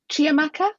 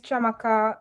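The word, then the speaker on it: Chiamaka: tcl 29 and i will pass on to chia maka is that right have i said it right yeah hello my name is chamaca my pronouns she ha hers uh i'm in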